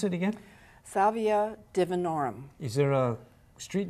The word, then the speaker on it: Salvia divinorum: And how do you pronounce it again? Salvia divinorum.